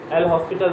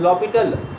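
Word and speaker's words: L'Hôpital: लॉपिटल rule एल हॉस्पिटल rule भी हमारे general pronunciation में निकल जाता है, actual pronunciation is लॉपिटल rule.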